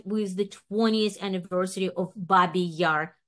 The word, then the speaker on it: Babi Yar: the 20th anniversary of babby Yar tragedy I'm pronouncing in the Russian way using the title of